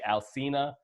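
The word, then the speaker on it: Alsina: with I think the guy's name is and it's spelled al si na Alcina think his name is and you know the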